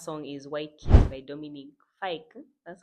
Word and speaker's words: Dominic Fike: And the last song is White Kiss by Dominic Fike.